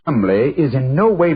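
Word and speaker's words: Cholmondeley: had no reason to know that the name Chumlee is in no way pronounced the way it is never thought of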